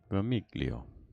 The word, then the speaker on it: Vermiglio: stallion was watching bermugo vermiglio oh there's no g yes there is you don't pronounce it oh really really yeah